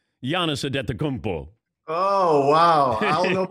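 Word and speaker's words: Antetokounmpo: to pronounce yana sadet kumpo oh wow i don't know i still have it down and it's bo not po people don't understand that that it's beau not poe thank you rich reg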